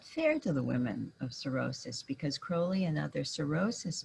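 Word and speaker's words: Sorosis: clubs the following month it was called cirrhosis that's spelled s-o-r-o-s-i-s from the latin word for sister which i always have to say because it sounds so much like something else the backlash against cirrhosis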